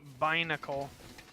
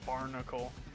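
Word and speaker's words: Binacle: Shiny uh Bacle. I've been saying his name wrong. I've been calling him Barnacle.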